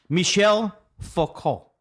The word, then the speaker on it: Michel Foucault: Alex says the reason that he picked this guy for you, who he picked, is Michael Foucault, pronounced Oh, okay. Fou- Michel Foucault.